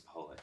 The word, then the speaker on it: Paholik: been pronouncing it Pacholik, but I think it's just a Jewish way of pronouncing it, and I think it's Paholik, actually.